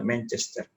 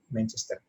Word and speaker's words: Manchester: Jadi pengucapannya juga Manchester, datar semuanya, Manchester.